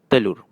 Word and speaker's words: telur: and this one is telur. So you can see whenever E is paired with an I or U it has an "er" sound.